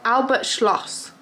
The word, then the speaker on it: Albert Schloss: doing tonight we're going to Albert Schloss in Albert Schloss is how you say it in town I've